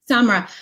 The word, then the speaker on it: Samra: for sharing that um samar am i saying that right simar samra samra um i wanted to turn to you next thank you for the correction i hate when people